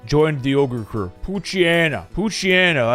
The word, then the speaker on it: Poochyena: Poochyena, as I like to pronounce it, or I think it's called Pooch Hyena.